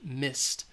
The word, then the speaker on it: missed: you're going to reuse miss all right is voiceless so it's going to have the T sound missed all right and then